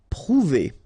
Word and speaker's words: prouver: Prouver, okay, O and U together, ou, prouver, prouver.